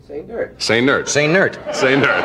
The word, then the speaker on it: Sainert: Sainert. Now, why do you say the accent is on the last syllable? He likes it that way. It's like say nurse, only say nerd.